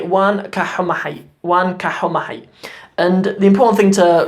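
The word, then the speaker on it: Waan ka xumahay: But it's important to remember this ka in there. Wan ka humahay is how you say sorry.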